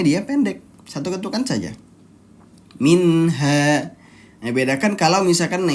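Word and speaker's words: منها: Minha, satu ketukan saja. Minha. Nah, seperti itu. Jadi hati-hati ya, jangan sampai kita dibacanya malah dengung. Misalnya contoh minha. Nah, ataupun dibacanya malah ditahan dua ketukan. Minha. Hati-hati, nunnya di sini nun sukun, bukan nun yang bertasydid.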